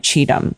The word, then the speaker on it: Cheetham: I that's how I that's how you pronounce my name Cheatham like do we cheat them and how okay okay